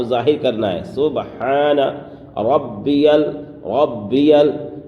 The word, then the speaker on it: ربی: سبحان ربی الاعلی، سبحان، یہاں پر ہا کو ظاہر کرنا ہے، سبحان ربی ربی، یہاں پر تشدید ہے با میں، اس لیے تھوڑا سختی کریں گے، ربی الاعلی، سبحان ربی